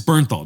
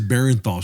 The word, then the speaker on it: Bernthal: You need to say it correctly. What is it? John Bernthal. John Bernthal. Thank you, dude. Sorry. I don't want to hear this Barenthal shit.